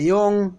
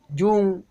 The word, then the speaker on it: Jung: it is everything a young or is called young or jung depending on the pronunciation show him a